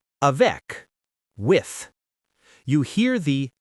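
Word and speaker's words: avec: When a word ends in one of these, you usually pronounce it. Let's practice. For C, a vec with you hear the C sound.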